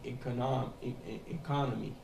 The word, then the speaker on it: economy: Tandis que en anglais, tu ne dis pas économie, tu dis economy. Il faut mettre le stress sur le deuxième O.